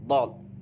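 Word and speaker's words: ض: Kemudian yang ketiga, haftol lisan artinya kedua tepi lidah. Kedua tepi lidah, kedua tepi lidah kiri atau kanan dengan geraham. Geraham atas merupakan tempat keluarnya huruf dod.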